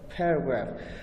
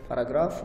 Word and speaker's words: paragraph: Paragraph. Focus on the pronunciation. Some of the students pronounce it paragraph, which is not the exact pronunciation. The exact pronunciation is paragraph.